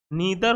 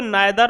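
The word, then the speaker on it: neither: आप इसको नाइदर और आइदर भी पढ़ सकते हैं। ठीक है, यू can also pronunciate it नीदर, ईदर, नाइदर और आइदर, कोई दिक्कत नहीं है।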